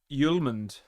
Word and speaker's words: Hjulmand: He's pronounced Yuland.